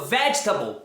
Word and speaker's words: vegetable: Se você pronunciou vegetable, parabéns, mas muitas vezes as pessoas pronunciam de forma errada vegetable, vegetable ou então dependable, comfortable.